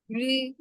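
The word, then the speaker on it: 日: রি, রি, এটার উচ্চারণ কি অনেকটা র আর একটা ই মিক্স করে, রি। ডাইরেক্ট রি বলবো না আমরা, ইও বলবো না, মাঝে মাঝে রি, রি এরকম টাইপের হবে, রে অথবা সান।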